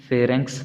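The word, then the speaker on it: pharynx: इसको आपने फेरेंक्स pronounce करना है।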